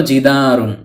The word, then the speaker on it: جِدَارٌ: প্রদান করে থাকে ফলে জিদারুন এর অর্থ দাঁড়ায় একটি দেয়াল অনেক সময় আমরা জিদার বলে থেমে যাই শুধু জিদার উচ্চারণ করে মুখস্ত করে থাকি অর্থাৎ ওয়াকফ করে ফেলি মানে শেষের তানভীনুনটি উচ্চারণ করি না আশা করি এখন থেকে